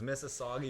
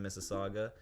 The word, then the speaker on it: Mississauga: Like guys, like it's Mississauga. You're getting paid 6 figures each. Like you should know that. But that's where we are. We're based in Mississauga.